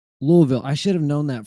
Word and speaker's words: Louisville: So you got to be able to pronounce it right. Louisville.